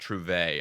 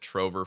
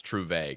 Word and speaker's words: Trouvaille: Yes, this word is actually pronounced Trouvaille. I've been calling it Trove for years, and I did not want to butcher this title. So, it's Yeah, it's Trouvaille, guys.